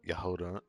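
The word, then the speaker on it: Jahoda: Yes, the J is silent. I get it now. Yehoda.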